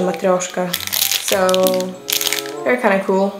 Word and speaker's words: matryoshka: It actually says how to pronounce this, matryoshka, or in Russian, matryoshka.